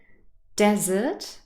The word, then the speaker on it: desert: to hear it in the first word desert the first syllable is stressed and in the second